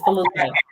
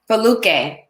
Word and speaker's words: Foluke: And please pronounce your name for me because I want you to say it. Absolutely. It's Foluke. Foluke.